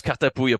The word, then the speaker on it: Cartapouille: So you can go by Cartapouille, and everything works. Cartapouille? Cartapouille. Cartapouille? Is there an N at the end there? No. It's Bouille, for the end.